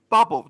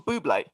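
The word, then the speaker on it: Bublé: i said michael bubble do you mean michael michael buble oh oh is that is that how it's pronounced yeah why do you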